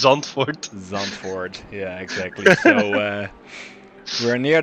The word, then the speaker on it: Zandvoort: we pronounce it today i think the the english uh pronunciation is a azanfor as we always hear but uh the way we say it is zonfort yeah exactly so we're